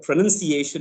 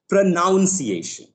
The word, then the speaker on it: pronunciation: pronounced a lot of people they mispronounce the word pronunciation as pronounciation that is of knowledge right another word that